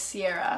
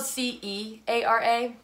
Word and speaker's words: Ceara: I used to think your name was Ceara. Yeah, it's spelled C-E-A-R-A, pronounced Ceara, though. It's old Irish, if anyone really wanted to know.